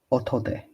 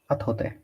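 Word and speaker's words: 後で: Otode. Otode. No, not otode. Atode. Atode.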